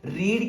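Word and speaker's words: read: लगानी है तो बेटे ये मैंने लिखा है यहां पे रेड याद रखना ये मैं इसकी प्रोनंसिएशन लिख रहा हूं कि आप इसको प्रोनाउंस ऐसे ही करोगे जैसे कि आप किस तरह किसको अनाउंस करते हो रेड को लेकिन याद रखना अगर ये फर्स्ट फॉर्म में है तो आप रीड के तौर पे यूज करोगे अगर सेकंड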